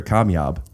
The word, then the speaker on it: Kamyab: But have been on the podcast without me, Amir K, or as I like to call him, Amir Kamyab. Yeah. Am I saying it right? You said it exactly right.